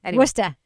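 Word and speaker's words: Worcester: Wora.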